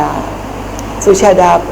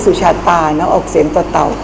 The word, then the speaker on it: สุชาดา: พิเศษ ที่ สุชา ได้ สุชาดา แขก จะ เรียก สุชาติ คน ไทย ออก เสียง เป็น เวลา ที่ มัก